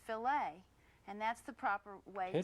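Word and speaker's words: filet: If you're speaking about meat cookery, the French word f i l e t it's pronounced fililet and that's the proper way to talk about a fililet of beef.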